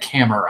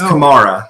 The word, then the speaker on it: Kamara: That looked like camera to me. I'm like, it's Kamara. Yeah. Yeah, and then I look at it, it's spelled camera. Camera. Yeah, but it's Kamara.